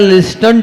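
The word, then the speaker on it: listen: और एल कह रहा है लिसन to other, लिसन to other. T silent होता है, पढ़ने में आ जाता है वो।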